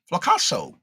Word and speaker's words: Flasso: My name is pronounced like Picasso. Oh, okay. Flasso.